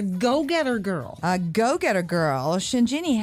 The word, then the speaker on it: Shinjini: that she's a go-getter girl a go-getter girl shinjini how are you hi Christine and Kate are we pronouncing your name correctly she Shin do shinin do okay that's it's such a lovely name now